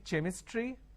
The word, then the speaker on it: chemistry: a word which is c-h-e-m-i-s-t-r-y can i say chemistry no the pronunciation is chemistry now here this is